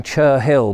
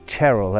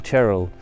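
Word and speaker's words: Cherhill: monument or the cheryl which i was calling chur hill but i've been told it's cheryl as in cheryl chair hill cheryl that's how the locals pronounce it monument which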